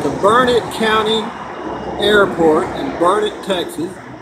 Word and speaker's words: Burnet: I'm at the Burnet County Airport in Burnet, Texas. It's spelled B-U-R-N-E-T, but it's pronounced Burnet.